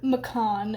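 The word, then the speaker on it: Maccon: she kills this vampire in self-defense and Lord Macon as I've learned it is pronounced from the author's pronunciation guide on her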